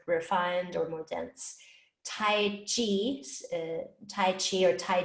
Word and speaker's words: qi: spelling of qigong so q i q i is pronounced chi okay i've also probably